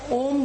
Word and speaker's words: ओम: Okay, अ उ म, दीर्घ सांस लेके आधा ओठ खोल के आपको अ का उच्चारण करना है और ओठ पाव इंच करके उ का उच्चार, ओठ बंद करके म का उच्चार करना है।